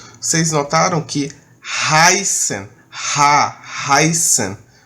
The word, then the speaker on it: heißen: B que é o Beta do Alemão é como fosse dois s certo ainda é do